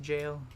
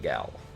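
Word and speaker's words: gaol: jail there as well did you know it's pronounced jail i did i found that out from my comments i like calling it gal because like jiff or jiff or gif it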